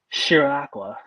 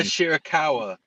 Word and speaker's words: Shirakawa: May with Timeless Tony storm Luther and Mina shiraka once again I apologize for my mispronunciation Mina shirakawa shirakawa I'm so I'm so sorry Mina shirakawa